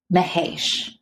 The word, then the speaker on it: Mahesh: Mahesh is the pronunciation of our super fan's name. Mahesh. And we have been I'm sorry, Cami and I have been mispronouncing it the whole time.